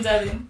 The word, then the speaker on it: Divine: It's pronounced Devin. Okay. I'm so sorry. I've been saying it wrong this whole time.